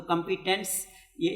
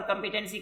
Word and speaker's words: کمپیٹنس: تو کمپیٹنس یہ اس کو عام طور پر کمپیٹنسی کہا جاتا ہے لیکن جو صحیح اس کا تلفظ ہے میرے خیال میں کمپیٹنس ہی ہے.